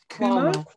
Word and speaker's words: Cuomo: Cuomo. Cuomo as in Q.